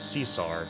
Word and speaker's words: King Caesar: name became King Caesar occasionally being pronounced seesar to match the actor's mouth movements you know what it is probably the guardian of the isumi he's called King Cesar King Cesar they afraid